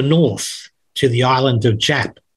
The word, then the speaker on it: Yap: There's an old story in Manos about the coconut that floated to the north, to the island of Jap. They pronounced their Y's with a J.